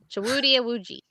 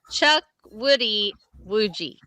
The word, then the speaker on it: Chukwudi Iwuji: Chukwudi Iwuji. Chuck. You're getting there. Woody. Chuck Woody Iwuji.